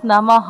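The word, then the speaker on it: নমঃ: একটা স্পর্শবর্ণ চলে আসে এ কারণে এর উচ্চারণ হচ্ছে নামাহা যদি এখানে নমি থাকতো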